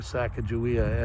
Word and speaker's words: Sacagawea: beautiful and big thing lots of people think it's portraying sacagawea and they don't claim that but um i have to admit that i also think that she may have some ties at least in my heart to saca julia or sakakawea as actually i think her name is more accurately pronounced